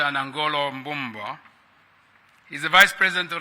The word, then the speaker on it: Nangolo: Lesotho your Excellency Dr nangolo Bomba that's not how you pronounce his name that's not right you pronounce his name his name's uh Dr anangolo he's the vice president